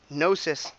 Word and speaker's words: Gnosis: By the way, Nosis, the G is silent. It's a Greek word, and it's a Greek word for specialized knowledge, which is why I picked it for this project.